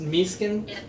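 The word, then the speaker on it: mise-en-scène: Yeah, that I love the scenes of Yeah, I believe that's called misin film school. We learned it's pronounced miskin.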